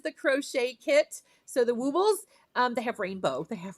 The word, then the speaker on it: Woobles: Woobles. Just that's how you say it. Woobles. Yeah, woobles. Like they'll wobble, but they won't fall down.